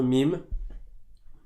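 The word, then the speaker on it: ميم: AMEN donc la lettre MIM comme j'ai dit tout à l'heure ça se prononce comme le M en français donc les deux lèvres vont se toucher et elle s'écrit différemment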